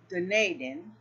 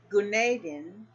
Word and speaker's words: Gunaydin: Now, all right, further complicating the matter, here's a question recently posed by Gunaydin of Belkent University in Ankara, Turkey.